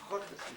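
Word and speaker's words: schottis: How do you spell it? Hotties, S-C-H. Oh, Scottish. We call it Scottish. Yeah. Hottis.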